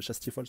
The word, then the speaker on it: Chastiefol: Donc c'est un petit peu l'équivalent de Chastiefol, ouais, de Chastiefol, ça se prononce bien comme ça, de King, vu que les deux sont des rois des fétos, des rois fées.